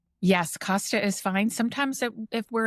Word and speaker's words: Costa: Did I pronounce that correctly? Yes, Costa is fine. Sometimes if we're in Europe, people will say Costa or other regions.